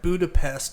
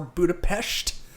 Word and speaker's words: Budapest: they they said that Budapest is supposed or Budapest I it's pronounced both ways either way they were saying that